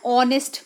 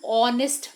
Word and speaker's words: honest: pronunciation in the pronunciation if the h is silent and the sound that is coming is of o then we use article